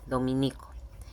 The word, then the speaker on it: dominico: Dominicano o dominicana no es correcto ni se pronuncia como esdrújula, y su escritura no, con tilde, se dice dominico, y que tiene ese